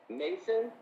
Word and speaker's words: Mason: have to clarify that Mason no it's m-a-s-o-n like a stone Mason like a free mason yeah yeah Mason yeah